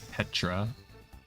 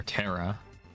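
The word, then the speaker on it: Ptera: Let's Let's summon our black Petra or Terra. I don't think you're supposed to pronounce the the P in it.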